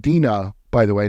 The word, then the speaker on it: Dinah: It's pronounced Dinah, by the way, not Dinah.